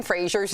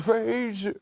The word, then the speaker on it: Fraser: It turns out we've been saying Brendan Fraser's name wrong. We all thought it was Fraser, like the Cheers character, right?